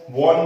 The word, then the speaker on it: won: Seventh example है हमारा India had वन, इसका उच्चारण खास तौर पे ध्यान रखिएगा, कई लोग WON को वॉन बोलते होंगे, तो this is a pronunciation mistake. WON का उच्चारण वन होता है।